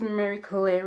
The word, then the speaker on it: Mary Claire: My name is Mary Claire, like the magazine.